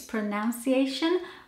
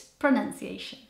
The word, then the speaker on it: pronunciation: I just love it did you know that pronunciation is the most mispronounced word in the English language and I can see why you'd make the mistake and think it's pronunciation but it's not it's pronunciation did you know that